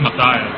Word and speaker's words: Mata: yep Mr Mata is it mattha uh it's matiah matiah okay I'm sorry I was uh saying your name wrong how you feeling tonight